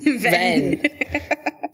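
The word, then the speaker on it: Venn: Ven. It's Ven as in Ventus, like the Roxas copy in Kingdom Hearts Birth by Sleep, obviously.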